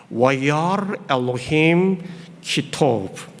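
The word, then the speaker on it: וַיַּרְא אֱלֹהִים כִּי־טוֹב: 저는 구약 선생이니까 우리 교우님들께 한번 이 하나님 보시기에 좋았더라는 말을 한번 히브리어 발음 그대로 한번 읽어보겠습니다. 참 운이 있고 멋있어요. 하나님 보시기에 좋았더라. 와야르 엘로힘 키토브. 멋있죠? 와야르 엘로힘 키토브.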